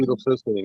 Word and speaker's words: N-acetylcysteine: And then the last one we'll mention here is the N-acetylcysteine. Is that how you pronounce it? N-acetylcysteine, you bet.